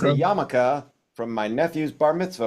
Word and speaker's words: yarmulke: It's called a yarmulke. It's spelled funny in English.